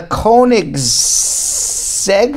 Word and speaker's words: Koenigsegg: in the world okay it is now the Koenigsegg am i pronouncing it right mm-hmm are you gonna go